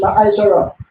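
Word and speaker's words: מעשר: Means sent in Hebrew and is pronounced Ma'ashara.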